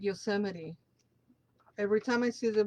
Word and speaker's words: Yosemite: I obviously English is a second language, so I read it the way it's written, which will be Yosemite, but it's pronounced Yosemite.